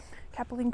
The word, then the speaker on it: Capilene: Capilene Cool.